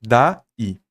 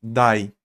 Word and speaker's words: daí: Você não fala dai, você fala da-i, tá bom? Da-i. Porque se você falasse dai, estaria considerando que esse i seria uma semivogal e estaria dentro da mesma sílaba, mas não é. Então a própria pronúncia está lhe dizendo que são duas sílabas, tá?